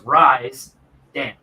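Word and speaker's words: Risdam: So to say it right, it needs to go RISDA. And then split it in the half. So it's Rise. So it's Rise Dam. Rise Dam. Okay, that's what I thought it was, but that's the way I always pronounce it. But I heard people pronounce it Risdom, so I didn't know.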